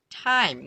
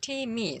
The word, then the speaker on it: time: E is helping this I vowel to sound longer.